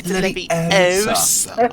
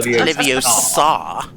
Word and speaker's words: Leviosa: Besides, you're not pronouncing it properly. It's Leviosa. Not Leviosa.